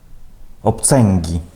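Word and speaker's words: obcęgi: Бачите, коли «он» або «ен» стоїть перед «г» і «к», то там цей звук зміняється «н». Ми чуємо «н». Наприклад, «бонг», «дронг», «обценгі», ні?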